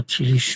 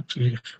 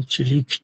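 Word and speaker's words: Tillich: هستند که شاگردهای پلتلیخ اینکه در بین ما تیلیش میگن این غلطه خب آلمانیا تلیخ میگن و امریکاییاهم تلیک تلفظ می‌کنن سی اچ رو من نمی‌دونم تیلیش از کجا اومد به هر حال پلتلیخ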